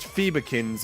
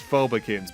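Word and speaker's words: Phobekins: for me to realize that that species name wasn't pronounced Phobikins, it's Phobikins, because phobia.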